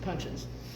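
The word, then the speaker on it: puncheons: Now in other writings I've seen that described as punchins. P U N C H E O Ns. I looked it up on Google. You pronounce it punchins.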